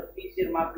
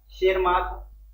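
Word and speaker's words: Tschermak: एक का नाम था शेर माक इसमें टी साइलेंट होता है तो टी शेर माक मत पढ़ना शेर माक दूसरा डी ब्रज और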